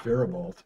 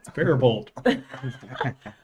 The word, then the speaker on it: Faribault: Faribault. Oh, Faribault.